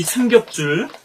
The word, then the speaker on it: 삼겹줄: 작시를 했는데, 오늘 우리가 이 삼겹줄, 삼겹살이라고 또, 잘못 발음할 수도 있는데요. 읽을 수도 있는데, 삼겹줄이죠. 트리플렛인데요.